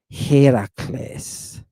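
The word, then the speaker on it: Ἡρακλῆς: Heracles. Heracles. Whew. Did you hear that accent? I missed that accent. Heracles. All right, put that accent on the Ada.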